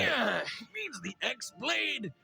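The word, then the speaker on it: χ-blade: Yeah, it means the X-Blade. It's just pronounced like Keyblade, even though it's just one Keyblade.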